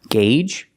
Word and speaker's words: gauge: gauge Audi and because with these three words the Au does not make the ah sound it makes three different sounds engage and makes a long a in Audi it makes a sound ow and then because it makes it sound uh because and if you know